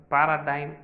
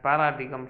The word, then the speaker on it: paradigm: and he said that I am pronouncing the word paradigm as paradigum so far and now